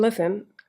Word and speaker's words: listen: Also, silent letters may not follow any rules. It just pops up in the middle of any English word, as the letter T in listen and D in knowledge, okay?